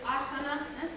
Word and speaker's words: Asana: Prakriti, recordad que en sánscrito la mayoría de las palabras son esdrújulas. Es Prakriti, es Sarasvati, es Arjuna, es Asana, son esdrújulas, el acento en la tercera sílaba.